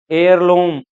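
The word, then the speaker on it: heirloom: इन सब में H silent है, एच की साउंड नहीं आ रही इसमें, सब में वोवल साउंड आ रही है।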